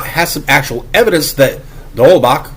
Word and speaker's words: de Holbach: Again, if Ra has some actual evidence that de Holbach, whose name he consistently mispronounces as de Holbrock, differentiated between those atheists